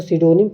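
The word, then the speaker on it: pseudonym: देखिए इसको सिडोनिम पीस में साइलेंट होता है लेकिन इसको बोलते हैं सिडोनिम में अभी आप आगे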